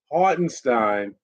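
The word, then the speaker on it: Hartenstein: Stein let me say it right the German hardenstein he's looking good because he's a hustle player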